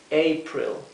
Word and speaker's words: April: february march april april la a se pronuncia e como la vocal a en inglés e april May june July august